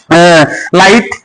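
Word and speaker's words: light: মাঝখানে জিএস থাকলে জিএস উচ্চারণ হয় না, প্রথমে থাকলে বর্গ হয়। আরো কিছু দেখায়। লাইট, এল আই জি এস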